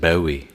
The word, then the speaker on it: Bowie: I think they pronounce it Bowie in Maryland. No, It's like it's a Bowie, southern, Maryland. but it's like a southern Maryland accent.